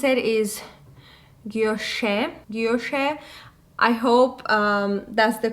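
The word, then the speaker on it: guilloché: So basically, this is the vintage Alhambra 5 motifs, a bracelet in yellow gold, and I think the way you pronounce it is guilloche.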